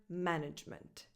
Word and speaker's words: management: Nothing changes stress-wise. Manager, management. Management.